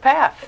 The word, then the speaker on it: Pfaff: pronounce it right yeah sure laugh with path there you go there